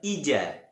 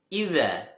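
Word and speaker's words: إِذَا: Sekali lagi bukan ija akan tetapi idza.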